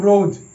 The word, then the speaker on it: rose: একই রকম রোজ, ROSE রোজ, এখানেও ই সাইলেন্ট এবং ও এর উচ্চারণ ও এর মতোই হচ্ছে।